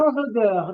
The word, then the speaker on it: sans odeur: I don't know how it would be pronounced Ah, in ok, French, et but sans odeur, d'accord.